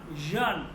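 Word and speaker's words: ژ: যেমন এটা উচ্চারণটা অনেকটা ইংলিশে এস আই। ঠিক আছে, এস আই। এস আই বলতে যেমন আমরা যদি লিখি, খেয়াল করেন, এখানে খেয়াল করেন, যেমন television, S আই ও এন। ওকে, তাহলে উচ্চারণটা কি হয়েছে খেয়াল করেন, television, John, S আই ও N, John, television, television. তাহলে এটা উচ্চারণটা হচ্ছে জে, জে।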